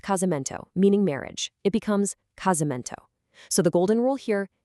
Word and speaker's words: casamento: It becomes casamento. So the golden rule here, if that S is trapped between vowels, keep that fun little buzz.